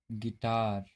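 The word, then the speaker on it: guitar: Rule देखते हैं, जब यू के बाद कोई वॉवेल्स हो तो यू साइलेंट होता है। जैसे गाइल, गिल्ड, गिटार, बिस्किट।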